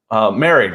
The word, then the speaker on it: Moehrig: Merrig, I think they pronounced it Merrig.